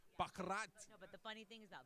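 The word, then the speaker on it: baccarat: I play crap you you actually pronounced it properly bakat but the funny thing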